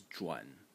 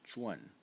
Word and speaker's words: 转: The first pronunciation is zhuan. In the third tone, and it means to turn or to transfer. And you can find it in expressions like, for instance, 旋转, which means to revolve or to spin. And the second pronunciation for this character is zhuan. In the fourth tone, and you can find